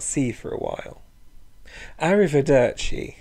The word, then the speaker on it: arrivederci: see for a while arrivederci is another Italian loan word but remember you don't need to put on an italian accent to say it so what words have